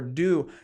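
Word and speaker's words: Deus: apparel / motorcycle company called Deuce or Do, depending on how you want to pronounce that.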